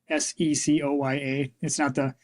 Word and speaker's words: Secoya: It's Secoya. It's inspired by the tree, but I chose to name it this way so it would be phonetically different. Okay. Right? It sounds phonetically the same, but it's I'm not an English major.